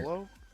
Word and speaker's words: IOLO: we won't hear yolo. YOLO. I said yolo. Yeah, it's yolo. So the I is silent.